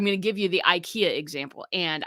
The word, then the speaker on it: IKEA: to give you the ikea example and i say ikea the swedes say ikea and that is the correct pronunciation but when somebody buys